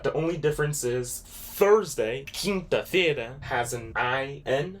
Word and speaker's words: quinta-feira: But the only difference is Thursday, Quinta-feira, has an I-N right there.